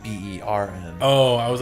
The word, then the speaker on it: Bern: Wait, it's called Burn, B-U-R-N? No, like B-E-R-N.